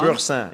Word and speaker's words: Pur Sang: How do you pronounce the name? Is it Pur sang? Pur sang, yeah.